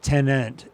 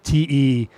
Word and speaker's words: Tenet: It's not tenant. It's Tenet. Tenet, like an ideal.